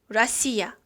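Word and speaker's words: Россия: 러시아는 러시아어로 세 가지 표현이 있습니다 각각 이렇게 발음을 합니다 첫 번째 라시아 두 번째 라쉬 스키 세 번째 루스키 무슨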